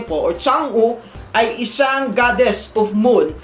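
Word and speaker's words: 嫦娥: Ang pagbasa po nito sa Chinese ay Changu. Changu ganun po ang pronunciation.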